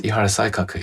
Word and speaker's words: Ihara Saikaku: And this is Ihara Saikaku. Have I pronounced that right? Yes, Ihara Saikaku, yes.